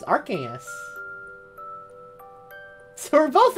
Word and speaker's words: Arceus: Don't like how I have to keep an eye out for shinies instead of just hearing the Arceus notification.